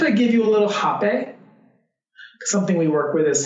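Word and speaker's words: rapé: I said, do you mind if I give you a little hape? Something we work with is something called hape, spelled with an R-A-P-E with an accent.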